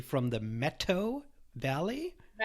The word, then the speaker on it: Methow: calling and you told me before how to pronounce this correctly from the metto valley Meto Meto okay see this is very hard for